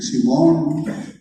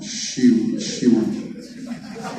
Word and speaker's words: Simón: ¿Simón? ¿Así? ¿Simón? ¿O Shimon? Shimon, eres casi juarense, ¿no? Shimon. Así pronunciamos aquí en Juárez.